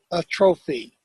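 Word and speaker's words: atrophy: A is adjustment or a trophy. And I'm going to spell it because I'm probably not pronouncing it correctly.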